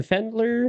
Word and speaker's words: Pfendler: The Fendler. I think the P is silent like Fizer.